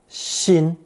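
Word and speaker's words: 新: the chin phonetic and pronouncing it first tone Shin which means you as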